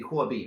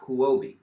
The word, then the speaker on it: Huobi: Google oh dear alright if you're actually speaking Chinese it would be hobby not COO OB that is a mispronunciation but hey not that